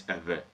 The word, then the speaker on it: Ewe: Now, for the purposes of this video, the real pronunciation is Ewe. But for the purposes of this video, I'm going to move with the common pronunciation. That is the Ewe people, which is the wrong pronunciation.